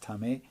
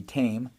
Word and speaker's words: TAME: Tom may or it's it's da mãe it's pronounced tummy in is in espanol or in English that would be tame Airlines that would be the way to go